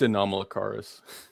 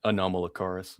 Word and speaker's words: Anomalocaris: I can't even pronounce it. Jesus Christ. it's Anomalocaris. Say that It's again. Anomalocaris. Mamlakaris.